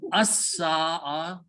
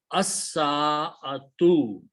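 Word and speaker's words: السَّاعَة: Sin is a shamsi letter, it will kill the sound of lam and doubles its sound. So pronunciation is as-sa'a, and al changes to the must one.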